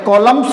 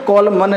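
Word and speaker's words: columns: लगातार कंडे निंदा करना तो यदि एम और एन लगातार आ जाए तो उसमें क्या होगा लास्ट का एंड साइलेंट रह जाता है कॉलम्स बोलेंगे कॉल मन नहीं बोलेंगे तो कॉलम की स्पेलिंग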